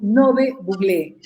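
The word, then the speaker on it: Ngäbe-Buglé: Bienvenidos a la comarca Nove Buglé, que se pronuncia correctamente Nove Buglé.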